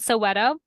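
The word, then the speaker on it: Soweto: very sad the way these people it's called Soto s o w t o so it actually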